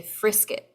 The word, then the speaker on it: frisket: is actually called a frisket rhymes with triscuit um but if you